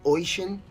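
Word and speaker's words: Oisín: the wandering of ocean that's oh I si n Ayatollah it's pronounced ocean the poem the wandering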